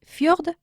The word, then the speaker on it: fjord: Los fiordos noruegos, ce sont les fjords norvégiens. Les fjords norvégiens. Voilà, lo escribimos F-J-O-R-D-S. D'accord, pero lo pronunciamos fjord.